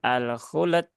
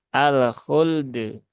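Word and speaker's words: الخلد: berarti dia lamnya yang mantul ya lamnya yang ada qalqalahnya padahal lam tidak ada Qalqalah dan qalqalahnya itu justru ada di huruf dalnya maka bukan alkult ya tetapi alkuld alkuld ya jadi tunaikan lam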